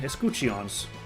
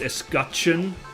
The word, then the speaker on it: escutcheon: Escuchions. Excuse me, I've apparently been told it's escutcheon is how you pronounce it, so I have been getting it wrong this whole time.